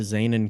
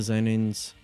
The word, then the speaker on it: Zenin: Now we move on to the Zenin Clan. Or the Zenin Clan. Zenin or Zenin? I'm gonna say Zenin. Zenin.